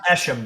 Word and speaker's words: Eshom: Oh, it's pronounced Eshom, Don.